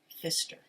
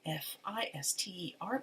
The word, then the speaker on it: Pfister: the name of marcus fister so it's p f i s t e r but the p is silent english is such a